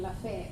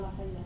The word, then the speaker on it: Lafayette: And this Rotarian, who is a retired dentist in town, in Lafayette, it's not Lafayette, it's Lafayette.